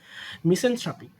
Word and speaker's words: misanthropic: যদিও এখানে টিএইচ আর ও থ্রু উচ্চারণ হওয়া উচিত, বাট উচ্চারণ হয় থ্রা, টিএইচ আর এ, থ্রাপিক। ওকে, মিসেনথ্রাপিক।